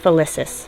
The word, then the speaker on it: Felicis: Oh, so I said it right, Felicis.